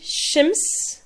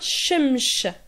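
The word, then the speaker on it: شمس: On dit shems, shems ou bien shemsh, shemsh. Donc certains disent shems, ça c'est vraiment lié à l'arabe, et d'autres prononcent shemsh.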